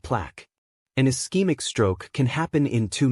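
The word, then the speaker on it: ischemic: The most common type about 87% of all strokes are eskeemic pronounced eskeemic.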